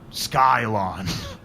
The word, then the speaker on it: Scylon: It’s called a Scylon. [pronounced with a hard “c”] S-C-Y-L-O-N.